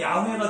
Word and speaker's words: 야훼: 근데 학자들은 이 발음이 여호와보다는 야훼가 더 맞다라고 얘기를 하는 거죠.